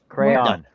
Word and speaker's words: crayon: Mark did uh were crowns invented by Dupont crayon why Dupont a crayon stop saying Crown you say tomato I say tomato you say tomato I say potato J say crayon Crown two syllables like you know Crown